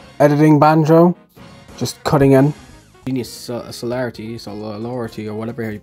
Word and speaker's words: Genius Sonority: Then there's also the third game developed by the same people who made these, I've been mispronouncing it. It's Genius Sonority. So, this is editing banjo, just cutting in. Genius Solarity, or whatever you pronounce